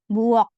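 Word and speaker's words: 부엌: Termasuk juga ini, buok. Bukan dibaca buok, nggak pakai K seperti ini, tidak. Tapi dibaca sebagai huruf K. Buok.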